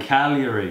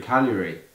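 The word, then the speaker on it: Cagliari: does it do it and Calgary Calgary silent e silent G Calgary I remember no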